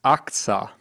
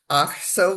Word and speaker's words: Achsah: And uh your name was pronounced Axa. Yeah, but I don't pronounce it that way. Actually, it should be oxo with a soft ch.